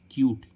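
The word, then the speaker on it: cute: क्या आ रहा है यू और यू के बाद एक कॉन्सोनेंट छोड़कर क्या आ रहा है ई क्या आ रहा है ई तो इसका उच्चारण क्या आ रहा है यू जैसे हम देखें इसमें सी यू टी क्यूट क्यूट मीस क्या होता है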